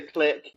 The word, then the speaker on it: KLIQ: all say it well if we're in the states we should say click click click but um yeah the